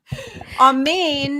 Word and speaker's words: amen: the amen is a psyop um it's not almond raw okay so I read write and speak Hebrew for all of you people who don't know me on Main and it's pronounced on Main when you're saying